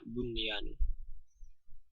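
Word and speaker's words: بنيان: atau dengan wau nah Namun kita membacanya tidak dengan meleburkan nun sukun ke dalam bunyi ya atau ke dalam bunyi wau namun sebaliknya kita membaca Nun dengan jelas nah ini jelas berbeda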